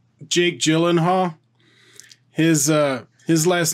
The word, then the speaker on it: Gyllenhaal: the like Scandinavian names so yeah like Jake Gyllenhaal his his last name is actually pronounced Yi Lin Horla yeah exactly yeah who's gonna do that right